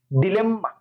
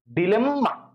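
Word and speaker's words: dilemma: ডিলেম্মা, বুঝো কিন্তু, আমরা বলি আম্মা, আব্বা, একইভাবে ডিলেম্মা, ডিলেম্মা।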